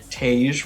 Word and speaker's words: Tage: This trip has Tage rhymes with rage. Oh my god! What does Sonia actually call him though? Taj?